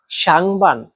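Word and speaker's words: 上班: তারপরে দেখেন বান। বান এ বানের উপরে এখানে চাইনিজের এক নাম্বার টুল ব্যবহার করা হয়েছে। এক নাম্বার টন উচ্চারণ নিয়ম হচ্ছে এটা একদম সোজাভাবে লম্বা করে বলতে হয়। বান বান যেমন একদম সমান লেভেলে আপনিও আমার সাথে উচ্চারণ করেন।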